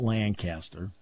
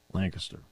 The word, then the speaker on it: Lancaster: St Mike Gross from Lancaster not Lancaster Lancaster this is our this